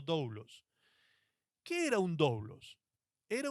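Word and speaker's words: δοῦλος: Entonces, cuando quedaban libres y su deuda saldada, el esclavo podía transformarse en algo que en griego se pronunciaba doulos, doulos, que esa es la palabra que utilizó Pablo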